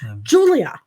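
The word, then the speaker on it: Giulia: was two seconds no julia julia but it's spelled with the g that's right g g h or something g no it's g i u u l i a yeah julia so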